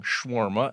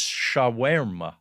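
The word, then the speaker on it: shawarma: n schwarma Le and I learned that I'm saying it wrong schwarma it's shaa oh like this comes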